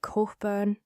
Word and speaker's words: Cockburn: Cockburn Street, locals say it, Corkburn, and now you know, curves away from the Royal Mile in a long sweeping arc, dropping steeply down toward Waverly.